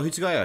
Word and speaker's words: Hitsugaya: Oh, Hitsugaya, yeah, the white-haired little kid.